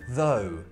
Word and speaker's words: though: It's raining though. So in this case, it's an O. So we've had uff for tough and O for though.